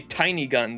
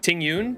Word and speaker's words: Tingyun: you say her name I wanted to say tiny gun that is definitely Ting Yun tingyun is that how